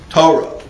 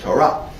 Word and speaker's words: Torah: Or if you follow an Ashkenazi mode of pronunciation, Ashkenazi. All right, I don't have time to deal with that. If you follow a European Jewish mode of pronunciation, Torah. Right. But the right way to say it is Torah.